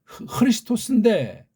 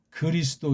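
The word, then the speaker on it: Χριστός: 이 크리스토스인데 우리나라는 이 발음을 가장 정확하게 소리내고 표기할 수 있는데 이걸 쪽발이 앞잡이들이 만든 한글 소리로 쪽발이 소리에 가깝게 그리스도 이렇게 발음한 것이 아직도 안 바뀌잖아요.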